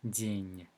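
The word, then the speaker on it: день: the world day is Jean so da it's a hard deal Jane it's a certainty there isn't it soft because we have to let her hear yeah makes the sound softer the me arc is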